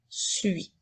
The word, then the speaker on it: suis: deux lettres i s fait bien attention pour te rappeler que la lettre S est une lettre muette et qu'il faut bien lire je suis et non je suis puisque le s est